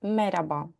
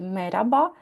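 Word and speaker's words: merhaba: Там є літера Х, але в розмовній мові, якщо ви були в Туреччині, подорожували або знаходитися в Туреччині, то ви чули, мабуть, що кажуть меряба. Оце хе. Ви можете і вимовляти, і не вимовляти, і так, і так правильно.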